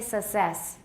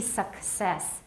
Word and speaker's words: success: The first C is pronounced as, and the second is, and many Taiwanese say success. They don't say success. It should be success. Success.